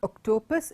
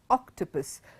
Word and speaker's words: octopus: Not octopus, it is octopus.